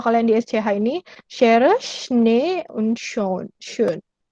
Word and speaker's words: Schnee: Kalau kalian di SCH ini, Schere, Schnee, und schön. Schön. Schnee, bahasa Jerman, kalau ada 2 E, berarti E bacanya. Schnee, E-nya gede gitu.